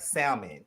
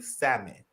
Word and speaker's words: salmon: Like when I had the fried, somebody corrected me and said Josiah the L is silent. So fried salmon. I mean salmon bites.